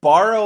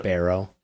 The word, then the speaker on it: Barrow: Alright, borrow Alaska yesterday. The sun set there. The sun will not that that city will not see sun until January 22 Why would anyone Barrow, it's pronounced, want to live there because that